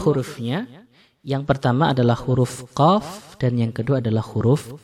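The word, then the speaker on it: ق: Jadi kalau qaf naik lidah kita, kalau kaf turun lidah kita.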